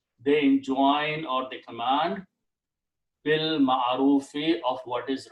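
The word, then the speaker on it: بالمعروف: And when you pronounce together, you do not pronounce this alif in there. You pronounce bil ma'arufi, of what is right.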